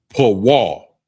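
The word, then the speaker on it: פול: And it's pronounced po. P wall. And that's P. It's spelled P A W A L.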